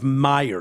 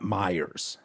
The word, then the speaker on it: Meyer: The tight end out of Notre Dame is Meyer, not Myers.